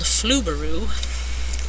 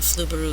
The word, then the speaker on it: Flubaroo: going to be the grading script it's called flaru so that's spelled f l u b a r o o weird word but it works wonderfully uh flaru is free and it helps teachers grade stuff